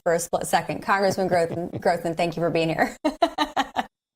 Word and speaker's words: Grothman: Glenn Grothman, Congressman, you corrected me on that pronunciation last summer, and I haven't forgotten, but I did for a split second. Congressman Grothman, thank you for being here.